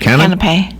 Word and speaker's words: canapé: How do you pronounce that word? Canapé. Canapé.